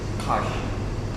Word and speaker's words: Kaş: Kaş, Kaş, 맞아 요 , Kaş.